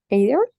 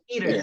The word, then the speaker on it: either: Because one is in British, the other one American pronunciations.